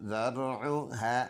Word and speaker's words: ذرعها: ज़ाल रा ज़बर ज़र, आइन पेश उ, ज़रउ, हा अलिफ ज़बर हा, ज़रउहा।